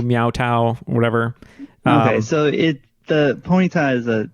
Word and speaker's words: Ponyta: Well, I believe it's pronounced Ponyta, if it's Ponyta, but the dog.